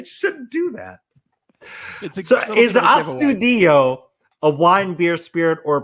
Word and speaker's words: Astudillo: So is Astudillo a wine, beer, spirit, or pop culture reference?